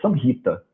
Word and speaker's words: Samhita: Então, a palavra Samhita, na prática, ela é pronunciada Samhita.